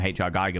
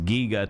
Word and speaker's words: Giger: him HR Geiger and I've always called him HR Geiger but apparently HR Giger themselves has actually said it was Giger to rhyme with eager which I was like